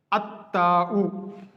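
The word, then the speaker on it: التاء: letter, then alif lam, then lam will not be pronounced. Like the first letter is sun letters are 14 in number. The first one is ta. For example, alif lam, if we prefix alif lam to letter ta, then it will be pronounced as at-ta'u.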